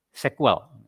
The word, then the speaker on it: SQL: structure query language atau biasanya Bacanya adalah ini sequel sequel nah ini adalah bahasa